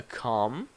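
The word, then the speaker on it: comb: you use to make your hair prettier a calm or when people died in the past they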